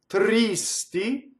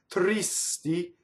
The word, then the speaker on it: tristi: We have to be very careful when we sing S to not sing it on the first syllable, as I've mentioned before, right? So speaking tristi, singing tristi, the S goes on the second note.